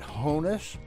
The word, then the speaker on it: Honus: commend they'll often ask how do you pronounce his name is it Honus or Hannes his name was Johannes German like William gets shortened to Billy Anthony to Toni Johannes it was shortened to honest folks from out of